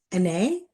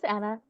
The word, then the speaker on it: Anna: Anae? Hopefully I'm pronouncing your name correctly. Oh, this is Anna.